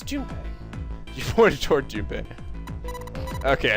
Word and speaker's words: Junpei: Wait, Mountain is the Jumpy. Oh, I'm sorry. I'm talking about him. I just called him Jumpy. His name is Junpei.